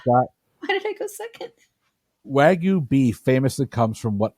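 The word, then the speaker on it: wagyu: did I go second wagu be famously comes from what island nation I'm sorry what wagu beef could you please spell that w a g yuu w a g y famously wag you beef oh I didn't know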